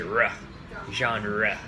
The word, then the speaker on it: genre: favorite genre of books be sure to get that rough at the end of genre in English unless you're in French in French it's probably junk just John you know